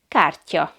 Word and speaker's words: kártya: Or the word for card is kártya.